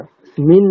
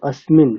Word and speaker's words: अस्मिन्: আচ্ছা, স্মিন নয়, অস্মিন।